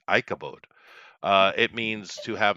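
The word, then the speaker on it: Ichabod: way oh that's interesting so it would be pronounced Ike Ike a bod ikabod it's not aabad it's ikabod uh it means to have no glory without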